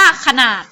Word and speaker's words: ขนาด: ขา เช่น คำ ว่า คำ นี้ เรา จะ อ่าน ว่า ขนาด อ่าน ว่า ขนาด ค่ะ เห็น ไหม คำ ว่า ค่ะ ออก เสียง อ่า แค่ กึ่ง เสียง หน้า ก็ ออก เสียง แบบ มี หอ นำ นะ คะ ขนาด คำ นี้